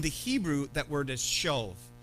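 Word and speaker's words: שָׁוְא: Now, in the Hebrew, that word is shov. It's like, if you want to pronounce it, it's S-H-A-W-V, shov, okay?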